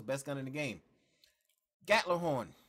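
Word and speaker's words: Gjallarhorn: gun in the game gatler horn that is the proper pronunciation of gatlinhorn you can call it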